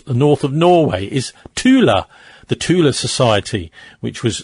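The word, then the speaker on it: Thule: I mean I wasn't actually sure but you call it Tula.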